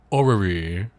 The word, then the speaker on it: orrery: It's called an orrery. Okay. Orrery. I say that with careful pronunciation because I learned this new word. Clearly it's orrery.